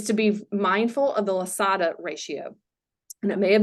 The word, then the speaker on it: Losada: and leaders, is to be mindful of the Losada ratio. And I may have mispronounced that.